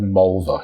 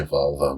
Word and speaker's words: Mulva: He actually said Mulva. He didn't say Volvo, but yeah.